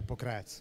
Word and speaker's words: Pokrajac: Yeah, Pokrajac.